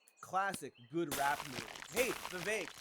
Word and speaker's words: Vivek: Hey, Vivek, if your name rhymes with cake, you could have just said, my name is Vivek.